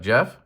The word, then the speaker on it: GeeOff: I'm saying his name weird because it's Jeff and it's spelled Geeoff. So you know when you're a kid and you see that name, you say GeeOff? Yeah, well, I'm still a kid and I say it that way.